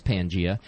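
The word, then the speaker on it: Pangaea: Pangia now I told I had the name wrong the other day um it actually is Pangia and it's called that I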